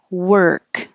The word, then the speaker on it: work: perimeter parameter parameter and work looks like or but it sounds like er so think wer with a k word and you don't